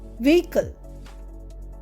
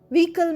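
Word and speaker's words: vehicle: ভিকেল ভিই এইচ আই সি এলই ভিকল। এখানেও কিন্তু H silent. ভিহকেল মানে যানবাহন।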